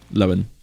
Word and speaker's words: Lowen: And is it, how do you pronounce it? Lowen? Lowen. Lowen. Yes.